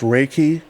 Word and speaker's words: Reiki: Um I know that you're like a is it pronounced Riki? Yes. Raiki practitioner.